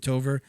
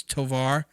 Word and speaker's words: Tovar: jason smiley brit tavare i said her name wrong on the last podcast i said tover it's tovar james fisher cj carroll